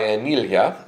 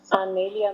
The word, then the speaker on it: Anelia: So I got interviewed last night by Anelia. Did I pronounce it right? Anelia, no, it's Anelia.